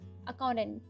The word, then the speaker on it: accountant: next is accountant accountant that t is silent here accountant next is anesthesiologist anesthesiologist